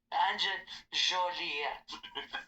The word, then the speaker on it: Jolie: Jolie. But even though those names aren't French, it's said like the French way because there's a letter